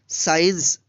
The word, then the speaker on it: science: जैसे यहाँ पे देखिए SC एक साथ है तो इस सी का उच्चारण नहीं हुआ है, इसलिए इसका उच्चारण हम करेंगे पूरे वर्ड्स का साइंस।